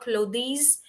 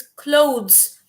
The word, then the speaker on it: clothes: pronunciation it is not clothings it is not something else it is clothes and the pronunciation is very much closer to the word close close the door it is closed so